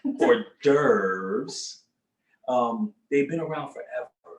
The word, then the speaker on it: hors d'oeuvre: hors d'oeuvre right uh as we spell it horse the overs but hors d'oeuvres um they've been around